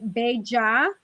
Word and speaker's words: bella: The double L in Spanish is y, like a Y. So it's bella or bellita.